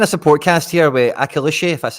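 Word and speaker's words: Akliouche: attack nice kind of support cast here with akishi that's how you say it and minamino in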